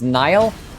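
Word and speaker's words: Niall: the blastus blade it's pronounced Nile I don't care what it's pronounced I'm going to pronounce it phonetically until the game tells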